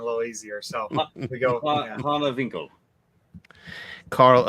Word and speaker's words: Hanewinckel: How do I pronounce the last name? Hanewinckel. It's Hanewinckel, but you can use it.